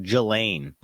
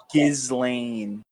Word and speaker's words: Ghislaine: I think it's like Gelain. Gizlane. Gizlane. The most inaccurate way.